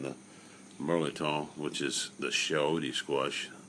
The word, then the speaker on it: chayote: Merleton, which is the chayote squash. Chayote, I believe is how it's pronounced.